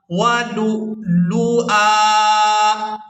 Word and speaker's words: ولؤلؤا: لام حمزہ پیش لو، یہاں ہم نے حمزہ کو ادا کرنا ہے اور حمزہ ساکن ادا ہوگا، واو کو ہم یہاں